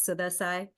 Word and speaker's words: Sudha Sai: so my name is suda Sai I also go by well the proper way to say it I guess but I don't force it is sudai um hold on let